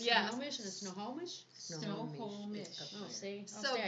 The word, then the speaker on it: Snohomish: Snohomish County 4-H tax sale. That's right. That's Wow, where you it just is. I used to live up there. How do you say it again? Snohomish.